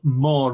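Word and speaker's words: Maw: But there's also a place called Moor Rig. Which the moor is spelled M-A-W, and the moor is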